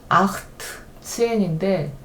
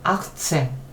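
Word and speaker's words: achtzehn: 그 다음에 18번 18은 아흐트 첸인데 발음을 할 때 아흐트첸 하면은 이것도 이제 난리가 나잖아요. 이게 치음이 계속 겹치는 걸 좋아하지 않아요. 우리도 싫어요. 그죠? 그래서 틀을 살짝 약화해서 발음합니다. 아흐첸.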